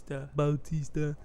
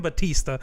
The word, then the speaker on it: Bautista: Bautista. That's how everyone fucking pronounces it. Fucking Batista.